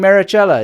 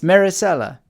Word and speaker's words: Maricela: This is Maricela. Maricela. Oh, is that how you pronounce it right? I'm always saying Maricela. It's Maricela.